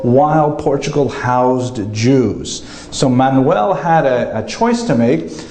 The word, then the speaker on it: Manuel: But luckily for today, the only Portuguese king we're going to talk about is Manuel, which is pronounced Frank? No, Manuel.